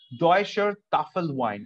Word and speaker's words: Deutscher Tafelwein: Listen to this pronunciation. It's called, there is something called Deutsche Bank, right? One of the most greatest, richest bank on the planet. Same way, there is something called Deutscher Tafelwein, or German table wine,